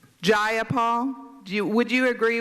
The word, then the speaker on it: Jayapal: you agree with Miss J appal that there was no takeover it was just if you're going to say my name please say it right it's jayapal jayapal do you would you